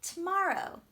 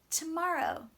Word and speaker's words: tomorrow: let's do one more tomorrow try for me tomorrow which part is most important there good it should be on ma one more time tomorrow very